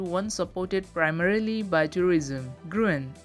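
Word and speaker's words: Gruene: supported primarily by tourism gruen a german surname pronounced green is now district within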